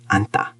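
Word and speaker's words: 앉다: It has nj. Left side, n, anta.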